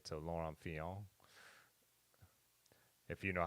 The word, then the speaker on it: Fignon: But I guess I bet in French they don't pronounce the T, right? So Laurent Fignon.